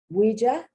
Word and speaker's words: ouija: pronunciation is off but it's to show you that the oh you has a can also have the wah wah wah sound this is from french ouija now they owe you